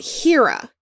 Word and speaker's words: Hera: realize this at first the a i is named h-e-r-a which is hera like greek mythology but they pronounce it hira which i always thought